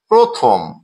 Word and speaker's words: প্রথম: প্রথম প্রথম শব্দটিতে আমরা দেখছি প এর সাথে র ফালা আছে এবং অকার আছে। অর্থাৎ এই অকারটি ও রূপে উচ্চারিত হবে।